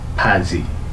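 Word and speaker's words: 바지: ফাং এরকম ফাং বলবে কিন্তু বাজি আমরা আগের বেসিক মানে সাউন্ড ভ্য অনুযায়ী এটা হচ্ছে কি বাজি কিন্তু আসলে এটাকে বাজি বলবে না। এই ক্ষেত্রে যে বলবে ফাজি ফাজি ফারাম ফাদা এইরকম মানে বিয়োগটা ব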